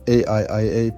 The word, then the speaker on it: AIIA: Welcome back to the Artificial Intelligence Institute Africa AIIA, pronounced Aiia, Ubuntu Guild's videos on AI.